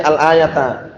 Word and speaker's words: al-ayata: Kalau ayat berarti al-ayata. Itu yang sahih ya, sebagai maf'ul bih dengan fi'il yang dibuang.